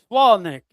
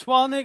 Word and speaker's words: Swalnick: His name is Dylan with a W, Swalnick. He's German. His name is Swalnick. His name is Dylan. So that's how you pronounce that name.